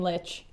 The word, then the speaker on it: Lich: I put a teen Lich as you as you do yeah well it rhymes with a couple other words stitches in fact mmhmm yeah